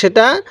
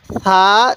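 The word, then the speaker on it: ثاء: তাহলে সা জিম। সাটা নরম করে উচ্চারণ করব, জিমটা শক্ত করে উচ্চারণ করব।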